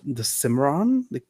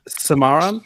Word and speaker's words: Cimarron: I didn't even look up how to pronounce this one. The Cimarron. You got it. This one's simple. It's simple enough. Yeah. Cimarron.